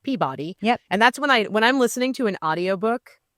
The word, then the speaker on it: Peabody: Most people outside of New England would pronounce it Peabody.